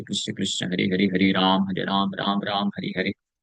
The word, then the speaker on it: राम: राम अगर बोलना है तो रा मा, यानी दोनों होठ ऊपर जाएगा और फिर आके स्पर्श करेगा, तब पूरी तरीके से सही तरीके से राम उच्चारण होगा।